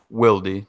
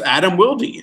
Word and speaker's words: Wilde: His name's not Adam Wild?" Yeah, because movie stars and shit just decide that they want to be wild. Like that's not how you say it. They just ignore the E.